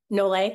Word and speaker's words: Nolet: Briar Nolet? Yeah, Nole. Is that Nole? Of course, Briar that's right. Nole. Briar Nole. I just started following her